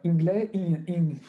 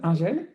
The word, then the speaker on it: Ingel: Du coup, je me permets de donner directement la parole au docteur Ingley. Pardon. Alors, comment ça se prononce? Ingel.